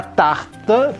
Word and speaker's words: tarte: Di sini juga e-nya agak sama-sama, jadi t-nya ini dominan ya bunyinya.